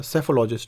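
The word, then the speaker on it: psephologist: हैं, इसे कहते हैं सेफोलॉजिस्ट, क्या कहते हैं इसे, सेफोलॉजिस्ट में पी साइलेंट रहेगा, सेफोलॉजिस्ट यानी कि चुनाव विश्लेषक।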